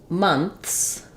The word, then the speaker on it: months: when we add the S sound to make months months you can say it with NF and